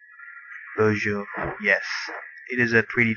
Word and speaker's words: boujou: in here we will be using boujou it is spelled uh b o u j o u beaujo yes it is a 3d tracking device we